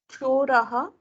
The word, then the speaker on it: Choraha: Choraha. 1 second. See, when you said choraha, it sounds like hriswa. Isn't it raha? So can you go a little more clear?